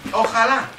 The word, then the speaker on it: ojalá: The Spaniards say ojalá, inshallah. Do they say that? Really? Are they Muslims, the Spanish people? Because J is yeah in Spanish. So J is not J. It's not pronounced as J. Ojalá.